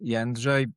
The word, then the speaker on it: Jędrzej: Well, my real name is Yanj, but you know, it's a Polish name.